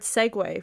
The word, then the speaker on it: segue: That, you know, the word segue, which is spelled SEGUE, which means to like steer into another, kind of go from one topic to another. For my whole life, I had been spelling that Segway as in like the scooter.